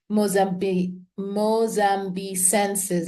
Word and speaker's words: Aspilia mozambicensis: So it's Aspilia Mozambicensis, like Mozambique, Mozambicensis, but without the Z or the Z. It's two S's, Moss, and then Ambicensis.